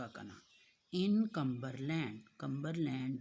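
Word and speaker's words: Cumberland: कम्बरलैंड के spelling देखिए। CUM कम, BER बर, LAND लैंड, कम्बरलैंड।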